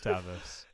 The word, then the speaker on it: Tavis: No, it's Tavis. No, it's Tavis. It's Travis without the R. It's Tavis.